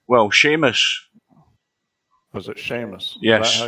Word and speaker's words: Seamus: Was it Seamus?